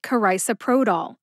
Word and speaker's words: carisoprodol: generic Soma is pronounced carisoprodol karisaprodol has five syllables now in my humble opinion all five of those syllables are slurred together especially the first two nevertheless I will break